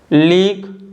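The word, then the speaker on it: league: और अगर आप लीक और टंग को रीड करोगे तो देखिए इन दोनों में यू तो साइलेंट है लेकिन जो लास्ट में ई आ रहा है ई भी साइलेंट है, यानी लीक और टंग में दोनों में यू और ई लास्ट में दोनों साइलेंट है, ठीक है।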